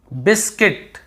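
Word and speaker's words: biscuit: यहां पे आप देखेंगे बिस्किट यह वाला रूल में आपको यू को नहीं पढ़ना है क्यों यू को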